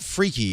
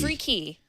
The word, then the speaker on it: freeKey: the sco free now it's not freaky it's freak key free key I've been saying it